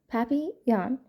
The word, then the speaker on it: papillon: You say it like this, papillon. In French it means butterfly.